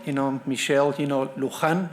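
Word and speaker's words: Lujan: know michelle you know luhan i'm gonna pronounce that in a spanish way you know uh grisham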